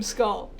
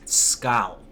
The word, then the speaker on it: Skull: It's not skull, it's scowl. Okay? You have to hit that U with a very hard accent.